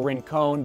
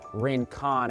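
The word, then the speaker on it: Rincon: from I realized Ricardo Rin cone but it's actually pronounced polka Rane Khan as in like con man I guess so thank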